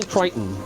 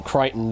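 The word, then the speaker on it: Crichton: Connie Willis, Frederick Paul, Michael Kryton. It's spelled as kitten.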